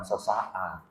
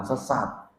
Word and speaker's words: sesaat: Jadi yang dimaksud mendengar dan percaya bukan satu tindakan sesaat. Apalagi tindakan sesat. Sesaat, ya, bukan sesat. Cara bacanya salah.